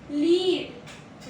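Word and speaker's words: lead: इसका first pronunciation is लीड। Rhymes with feed. Feed लीड। Feed लीड with लीड।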